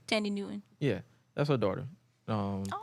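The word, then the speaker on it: Thandie Newton: she was on Norbit about Tandy Newton yeah that's how you pronounce it yeah Tandy Tandy Newton yeah that's her daughter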